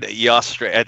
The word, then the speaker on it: Eostre: Eostre. I think that's how you pronounce it.